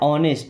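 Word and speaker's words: honest: होता है बनो या रहो कैसे रहना है ऑनेस्ट यहां पे एच साइलेंट है क्या पढ़ते हैं ऑनेस्ट ऑनेस्ट का मतलब होता है ईमानदार।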